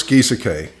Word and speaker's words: Gieseke: My name is Gieseke. That's how you pronounce it, Gieseke.